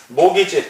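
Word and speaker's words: mortgage: 맞았는데 주택 저단 주권 모기지 장기 당을 날아다니는 모기가 아니라 집을 주택을 저당 잡혀서 돈을 빌리는 걸 모기지 그래요 모기지 m g 트는 묵음 발음이 안 돼 먹이지 자 장기 저당으로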